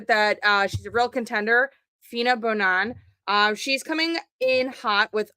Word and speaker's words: Feena Bonoan: It's Feena Bonoan. It's pronounced two letters at a time.